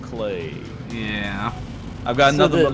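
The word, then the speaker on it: Klei: spelled it cly and now they're like it's pronounced clay yeah I've got another but love for my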